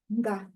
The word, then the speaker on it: nga: Those 3 letters make only one sound. Nga. If you find yourself saying 2 different sounds, nga, for example, that's not the one. So keep practicing not to separate those letters.